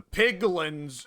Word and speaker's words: piglin: The piglins, it rhymes with pigmen, are pigmen. Okay. Piglins, pigmen. Piglins, pigmen.